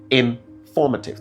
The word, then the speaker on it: informative: So, it is actually in formative. The stress falls on the second syllable.